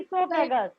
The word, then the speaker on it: esophagus: अब यहाँ वो साइलेंट है, बोलेंगे मैम, esophagus.